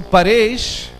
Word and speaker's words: Paresh: So Paresh is actually composed of two elements, par, ish.